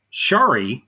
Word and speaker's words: Shari: Shari, because it rhymes with Starry, Fesco.